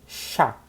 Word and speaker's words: chat: Gato, a gente diz chá, chá, igual o chá que você toma, chá. No feminino, chat, a gente fala só o T, um T. Então, chat. No plural, chá, mesma coisa que a gente falou aqui.